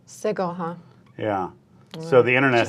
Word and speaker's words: Sigil: There's a general consensus on the internet that it's a hard G in Sigil. Sigil, huh?